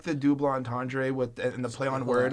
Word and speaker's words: double entendre: And I like the double entendre and the play on word with double entendre. Yes, don't that's you how. French? That's Chris, it's double entendre. I've been saying it wrong for weeks.